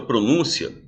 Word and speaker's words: pronúncia: pronúncia certo existe pronúncia quando você coloca o acento no u é porque você tá querendo dizer que esta sílaba na é a mais